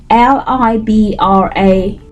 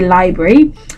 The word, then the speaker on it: library: Many times you can hear people say library, but it's pronounced library. So the R sound in this word is hard for a lot of non-native speakers to figure out, because so the R